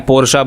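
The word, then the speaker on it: Porsche: आप इसे पोर्श बोलते हैं, पोर्शा बोलते हैं या पोर्शे बोलते हैं। तो आखिर इन तीनों में से इसकी सही प्रोनाउंसिएशन क्या है। तो इस ब्रांड को यूट्यूब चैनल बनाकर ये बताना पड़ा था कि इसकी सही प्रोनाउंसिएशन क्या है, और इसकी सही प्रोनाउंसिएशन है पोर्शा।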